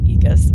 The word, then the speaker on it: Aegis: It just looked like that, but it's pronounced Aegis.